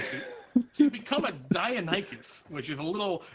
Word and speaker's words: Deinonychus: it's Deinonychus. Whatever. I'd like to multi-attack. Is it really pronounced Deinonychus? That's new to me. That's It very is cool. pronounced Deinonychus, yes.